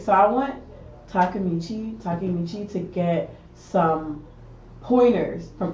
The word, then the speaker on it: Takemichi: uh takamichi takamichi right so i want takamichi takemichi to get some pointers from itadori because itadori